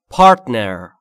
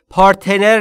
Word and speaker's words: partner: تلفظش رو دقت کنید. پارتنر نیست. Partner. Partner.